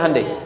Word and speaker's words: Hyundai: bikin Honda sini HD hyundaikan dibacanya Handai sana Honda apapun yang